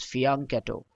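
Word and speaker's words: fianchetto: the third one faneto it is French in origin and I will come again with the pronunciation it is fiano this refers to the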